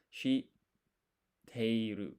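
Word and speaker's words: 知っている: So this half size tsu, you don't pronounce it. It's like a pause. So it's shi teiru.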